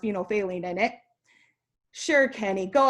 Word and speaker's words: phenolphthalein: bottle and it has this phenol which is pronounced phenolphthalein in it sure kenny go ahead squirt some